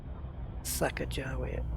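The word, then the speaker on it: Sacagawea: so vital repairs guys Sacajawea so it is so the Q's pronounced a J okay okay I'll go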